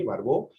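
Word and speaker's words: Barbault: su página web Andrés barbó punto com sí Andrés barbaul se escribe si lo querés poner ahí en el chat betina barbauli Sí con t- finales francés sí barbó Y entonces Eh bueno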